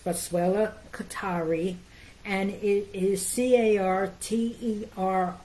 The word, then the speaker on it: Boswellia carteri: anything I want to tell you that it's pronounced boswellia Qatari and it is ca rter I it's not